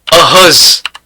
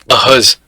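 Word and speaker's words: heureuse: Ahuz. Ahuz. That Z sound is because S is in between two vowels. Right. Okay, so LA Ahuz, O Canada. ठीक है. ठीक है, for feminine we made it ahuz.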